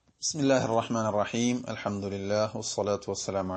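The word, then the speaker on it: بِسْمِ اللَّهِ: അത് ആ ഒരു കാറ്റോടുകൂടെ ഹി ഹി ഹി ഹി എന്ന ശബ്ദത്തോടുകൂടി വന്നാൽ മാത്രമേ ഹ ആയി പരിഗണിക്കുകയുള്ളൂ. അതേസമയത്ത് പലപ്പോഴും ശ്രദ്ധിക്കാത്തതിന്റെ പേരിലും പ്രാക്ടീസ് ചെയ്യാത്തതിന്റെ പേരിലും ബിസ്മില്ലായി, നമ്മൾ ബിസ്മില്ലായി, അൽഹംദുലില്ലായി, ഇങ്ങനെ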